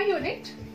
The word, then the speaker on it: unit: See here, a unit. Unit, university. Here the word starts with U. Still we use a unit, a university. Why? Because though the spelling is U, its pronunciation is of consonant.